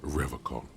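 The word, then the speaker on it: Revachol: He pronounces Revocon with a hard K, unlike other people.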